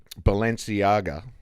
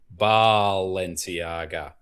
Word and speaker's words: Balenciaga: Well, I mean, there is, of course, that viral clip of Kim Kardashian, and she over exaggerates the pronunciation of Baal. She goes Balenciaga.